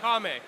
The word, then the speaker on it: Marame: The name of this brand is Marame.